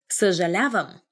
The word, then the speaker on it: съжалявам: And I'm sorry, but a lot of people find difficulty pronouncing the... Now I'm having difficulty speaking. Pronouncing the in the beginning, because we have this sound.